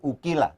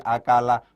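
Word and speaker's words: أَكَلَ: Karena cara bacanya tidak diikutkan pada kaidah majhul, bukan ukila, tapi akala, bukan ukila, tapi akala.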